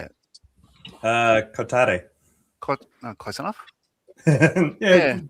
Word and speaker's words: Kotare: Uh Kotare. Kotare, close enough? Yeah, generally the the way you say it in English is close enough.